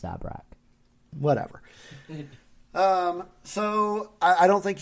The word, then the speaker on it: Zabrak: It's pronounced Zabrak.